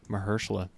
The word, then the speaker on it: Mahershala: So actors in a supporting role, I'm going to go with Mahershala Ali as the way you pronounce Mahershala. His name. Mahershala.